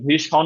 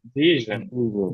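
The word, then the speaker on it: vision: আছে ভিজন তাহলে ভিশন না ভিজন ভিজন জন আবার না ভিজন ভিশন না জন না অনেকের জন যাই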